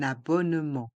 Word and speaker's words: abonnement: 1 et le a de abonnement et on prononce un abonnement un abonnement les lettres e et n de